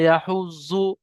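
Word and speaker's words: يحض: ওয়ালা ইয়াহুজ্জু, যাদের উপর তাসদিদ আছে দুবার উচ্চারণ করতে হবে।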